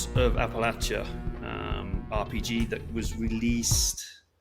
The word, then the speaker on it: Appalachia: for the southern Appalachians this is why we're saying Appalachia uh rather than appal uh the other version that I can't remember Mike how did they say up near you yeah Appalachia Appalachia that's it yeah yeah as opposed to Appalachia yeah so there's there's